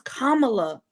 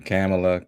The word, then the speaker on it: Kamala: saying it wrong again Kamala her name is Kamala Kamala camela Kamala cam cam her name is Kamala VP